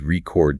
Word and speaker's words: record: Please record this lecture. Same letters, same sequence. The only difference is the musicality.